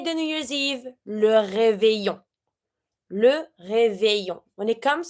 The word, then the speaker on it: réveillon: New Year's Eve, le réveillon. Le réveillon. When it comes to the pronunciation of this one, you see that here I have the EI and the double L. It's always the A Y sound.